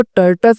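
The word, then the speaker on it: tortoise: बहादुर शास्त्री देखो आप ये जो वर्ड लिखा है ना टर्टाइल इसको टर्ट अस बोलते हैं ठीक है ना लेकिन आप टर्टाइल बोलिए अगर आपको स्पेलिंग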